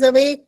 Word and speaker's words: awake: अवेक का ई मत भूलो बेटा. एंड में साइलेंट ई है.